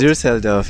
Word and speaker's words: Düsseldorf: I landed in Düsseldorf. I don't know if that's how you pronounce it. Düsseldorf, yeah.